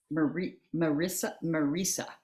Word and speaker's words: Marisa: Okay, and it's Marisa. Rhymes with Lisa.